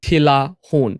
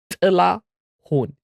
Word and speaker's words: Tilahun: when you pronounce it, you can't say Tilahun. In English, it's Tilahun because you don't have that noise. But if you want to impress Ethiopians, you have to say Tilahun. You have to make that noise.